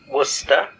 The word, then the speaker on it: Worcester: I think what I heard was the spy couldn't pronounce Worcester and said something like Worcester.